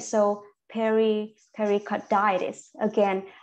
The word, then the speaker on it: pericarditis: inflammation right so Perry pericarditis again when you see it itis and you need to and you need to stress in on that word okay right so it